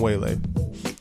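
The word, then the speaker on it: Weili: Zhang Wei Lee it's her first name is Wei Lai shun but they pronounced a giant whale a so we was just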